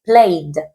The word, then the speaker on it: played: Por ejemplo, aquí hay una y, pues yo tengo que juntar esta y con la D porque lo que no voy a pronunciar es la e. Pero la D sí tiene que sonar, porque si yo te digo play, te lo estoy diciendo en presente o en infinitivo, tengo que verlo según el contexto, pero para decírtelo en pasado tengo que indicarte esa D, por lo que tengo que decir played.